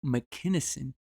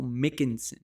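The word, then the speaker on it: McKinson: michael mickinson yeah so i thought it was michael mckinnison but i watched an interview today with uh addie oladipo on the zone and it's michael mickinson okay i was pronouncing it wrong i apologize for that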